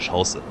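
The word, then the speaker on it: Chaussee: schauße ne ist ja es kommt ja auf die Betonung an das heißt ja nicht cha das heißt schanceße weil wir sind ja in Deutschland ne also wissen wir alle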